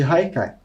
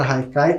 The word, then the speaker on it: haikai: podem ver a palavra Haikai como ela é de origem japonesa se escreve com h mas tem esse som de R e muitas vezes pode